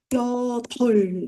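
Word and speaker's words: 여덟: 자, 얘는 여덜 이렇게 되죠. 리을 여덜.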